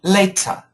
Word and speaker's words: later: Now, now, uh, Victor, your pronunciation is very British. Later. Later. But in America, it changes to a bit of a D sound.